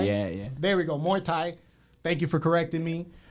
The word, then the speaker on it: Muay Thai: martial arts instructor of mu Thai am I pronouncing that right yeah there's an A in there it's Moy Muay Thai yeah yeah there we go Muay Thai thank you for correcting